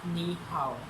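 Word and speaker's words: 你好: As the first topic, first word is ni hao.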